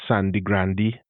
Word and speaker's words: Sangre Grande: And again, if you look at the names of places in Trinidad, many of them have Spanish names like Sangre Grande, which we call Sandy Grande, or San Fernando, and so on.